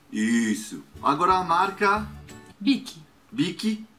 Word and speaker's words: Bic: Bic é Bic, não Bic.